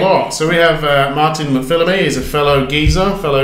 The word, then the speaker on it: McPhilimey: McPhilimey. Perfect as well. Perfect. Yeah. Oh, thank you very much.